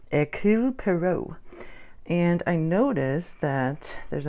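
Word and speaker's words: Poirot: not saying that word his name right a pero and I noticed that there's a movie coming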